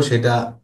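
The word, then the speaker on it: ث: সাটা হলো জিহ্বার আগা উপরের দুই দাঁতের আগাতে লাগবে।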